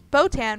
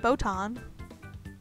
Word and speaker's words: Botan: to pronounce his name it's like it's it's botan right not boton not boton like from yu hakusho right let me just boton